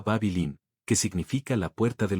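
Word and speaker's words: Bāb-ili: En Acadio, la lengua que hablaban sus habitantes se pronunciaba babilín, que significa la puerta de los dioses.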